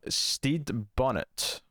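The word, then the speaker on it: Stede Bonnet: is based loosely on the true adventures of steed bonnet uh that's how you pronounce that a pampered aristocrat who's abandoned his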